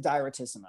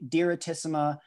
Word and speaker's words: diretissima: so yeah i think directissima di diretissima um it's it's actually um it's an italian word it's like a it's